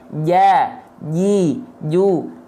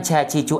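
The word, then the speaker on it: ج: Ja, ji, ju, aja. Bukan ca, ci, cu, aja. Ya, oke, paham? Itu cara melafalkan jim.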